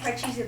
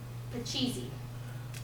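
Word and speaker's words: Pachisi: The original version is from India, and it was called Parcheesi. It's spelled P-A-C-H-I-S-I, which is not how you say it right here.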